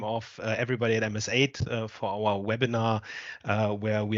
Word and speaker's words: MSAID: Frequently, people pronounce MSAID as MSAT. That's, of course, completely wrong. It's MSAID for a reason, and the reason is